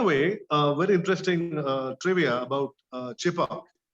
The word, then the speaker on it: Chepauk: So Chhe Bagh, I presume the British couldn't pronounce it and they pronounced it faster, Chepauk.